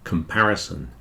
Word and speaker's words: comparison: second syllable is stressed the second syllable is much bigger like the Apple those four pieces of fruit represent the four syllables in comparison you'll see the first syllable the pair is very small the third and fourth are kind of medium size but the second one is the big one comparison comparison in reality